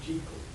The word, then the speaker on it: Jekyll: And the Jekyll and Hyde Society turned up to make sure they pronounced it Jekyll.